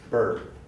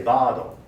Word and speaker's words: bird: is a challenging sound there's no pronunciation in spoken japanese that resembles bird but notice that it's high it's when a word actually like word word what the word a word like bird is borrowed into japanese you keep the central tongue position but japanese has only